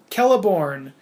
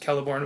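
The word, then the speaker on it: Celeborn: said hey bro it's I think it's pronounced kelborn with a K and I was like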